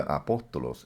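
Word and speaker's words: ἀπόστολος: Hermanos, la palabra apóstol en el griego se pronuncia apóstolos y significa de parte de o mensajero o un mensajero delegado.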